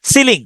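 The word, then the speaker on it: ceiling: টুইশন হয় ঠিক আছে সিলিং সিলিং এ উচ্চারণ হচ্ছে সিলিং কিন্তু দেখেন মাঝখানে আই আছে সে উচ্চারণ হয় সেইলিং সেলিং আই এল আই এনজি সেইলিং সেলিং ঠিক আছে কিন্তু এমনিতে উচ্চারণটা হচ্ছে সিলিং মুখস্ত করার জন্য বা মনে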